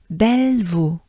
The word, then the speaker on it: Bellevaux: au kilomètre 66,2 in Bellevaux. Not too bad, right? Because basically it's belle, vaux. So together, ensemble, Bellevaux. There you go. And it rhymes.